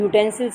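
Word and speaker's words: utensils: अब यूटेंसिल्स में क्या हो रहा है? यू वॉवेल है, बट य की साउंड आ रही है, यूटेंसिल्स य, तो इसलिए हम यहाँ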